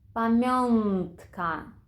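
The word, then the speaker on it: pamiątka: місці б п м якщо ж наші носувки всередині слова стоять перед будь-яким іншим звуком то ми їх будемо вимовляти як н інколи як ні пєнтро єнзик вигльнд памянтка пінькни ренька А що про кінець слова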